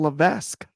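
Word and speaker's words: Levesque: thought his name was Paul lavesque silent s who saw that coming I didn't even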